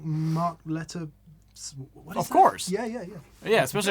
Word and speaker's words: Lettieri: Yeah, Lettieri.